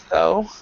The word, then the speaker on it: though: caught and and cough the first three the GH you do not pronounce at all so when you have